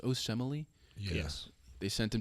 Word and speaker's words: Osemele: Is it pronounced Osemele?